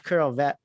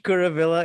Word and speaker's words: Kuravilla: topic with them uh we've got curl vet wow i didn't pronounce your name wow you know you've been canceled joby pronounced by the name kuravilla is with us uh